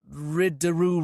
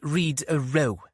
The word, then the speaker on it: Rido: It's on the Riddoo Road. It's Rido, Mom, Catherine explained. Pronounced Reedo, as in crew.